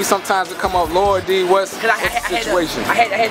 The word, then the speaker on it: Lil D: When we pronounce, we don't say little. You know what I mean? We say Lor D. Yeah. Even if it's spelled L-I-L, you don't say, what's up, Lor D? You ain't gonna say, what's up, little D?